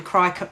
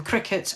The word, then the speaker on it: Cricut: time because i've been so involved with the crycut machine or the cricut as everybody as it's actually pronounced all these silhouette machines that i've neglected